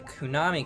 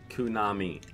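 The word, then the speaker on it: Konami: Kunami like anime.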